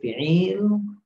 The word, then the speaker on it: fi'il: terbagi tig macam yaitu fiil ya kalau bacanya lengkapnya f tapi kita bacanya fi'il lalu yang kedua Ismun